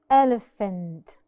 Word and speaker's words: elephant: the S sound paragraph elephant elephant I could hear it as an F sound elephant as you could